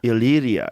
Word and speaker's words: Illyria: Illyria.